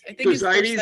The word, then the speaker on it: Thersites: Thersites, is that how you pronounce it?